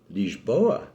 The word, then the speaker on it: Lisboa: Furthermore, he spent most of his life in Lisbon, which sort of rhymes with person, but whose Portuguese name, Lisboa, sort of rhymes even more with Pessoa.